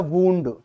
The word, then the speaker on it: wound: की तरह भी यूज होता है, और इसका प्रोनाउंसिएशन होता है वूंड, जिसे कहते हैं जख्म, इंजरी, है ना, इंजरी, जख्म।